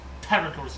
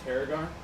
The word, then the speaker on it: Tarragul: Tarragul's not him. Said, hang on. Spit on his mouth. Said Tarragar? Tarragul, he pronounced.